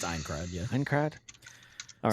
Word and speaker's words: Aincrad: Yeah, it's Aincrad.